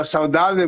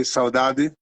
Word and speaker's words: saudade: Well, saudade would be in Portugal, they would say saudade. In Brazil, saudade.